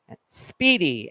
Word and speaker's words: Spiedie: And again, it's Lupo's, Lupo apostrophe S, Speedy. And again, Speedy is spelled, well, Google will correct you, but Speedy is spelled Spiedie.